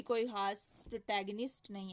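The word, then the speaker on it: protagonist: उसके बाद Richard third है, ये इसी के नाम पे इसका प्रोटैगनिस्ट भी है, एंटैगनिस्ट भी है। प्रोटैगनिस्ट क्या होता है एक्चुअली? प्रोटैगोनिस्ट नहीं पढ़ना, प्रोटैगनिस्ट इज the right pronunciation.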